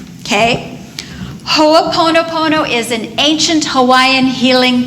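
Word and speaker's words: hoʻoponopono: hoapono Pono spelled exactly like it sounds okay hooponopono is an ancient Hawaiian healing technique there are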